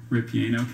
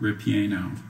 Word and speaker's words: ripieno: Ripieno came from Italian, which formed it from a Latin word. Are there any alternate pronunciations? Just the one, ripieno.